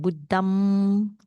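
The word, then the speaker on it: Buddhaṃ: So because when you pronounce it Buddham Saranam, you actually it's like using the nose sound.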